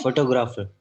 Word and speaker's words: photographer: लेकिन actual pronunciation में हमें सिर्फ टॉ पर करना है। टी ओ इज the syllable जिसपे हमें, ठीक है? फोटोग्राफर, फोटोग्राफर, फोटोग्राफर, ग्राफर नहीं पढ़ना, photo ग्राफर, फोटोग्राफर, ग्राफर, photo.